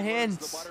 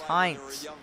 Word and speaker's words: Hintz: It's not Hintz. It's Hintz. The only reason why they actually say that is because the EA has it set for the German or Finnish version, and that's how I guess you say it like that. But the Spitfires carrying on in real theory, my name is German. Hintz is German.